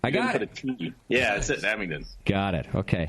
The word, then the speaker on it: Abingdon: guys are from uh I'm going to probably butcher the name of the city Abington Virginia hey you got it got a yeah that's it Abington got it okay how long you been open